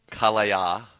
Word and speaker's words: Kallaya: We had a great time uh at Kallaya like Kumbaya.